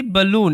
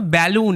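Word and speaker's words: balloon: যদি তোমরা একটু খেয়াল করো এটাকে পড়লাম কি বালুন এটা কিন্তু ব্যালুন এরকম ভাবে পড়লাম না তোমাদের মনে হতে পারে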